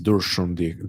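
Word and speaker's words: Darshan: Durshun is Durshun, the proper pronunciation.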